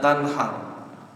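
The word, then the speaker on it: تنهر: Harusnya wanhar, dan sembelihlah, ya, jangan pakai hak besar, kebalik. Nanti masuk ke dalam surah Al-Duha ketuker, wanhar fala tanhar. Adapun terhadap orang yang minta-minta, jangan engkau sembelih. Jangan fala tanhar. Karena saya pernah imamnya bacanya wanhar. Kita kasih pengertian selesai sholat. Karena kasihan kalau dia baca terus-menerus begitu, dia salah baca itu.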